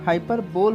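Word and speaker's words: hyperbole: इसका spelling हाइपरबोल होता है, फिर भी इसे प्रोनाउंस करते वक्त हाइपरबली ऐसे प्रोनाउंस करना है।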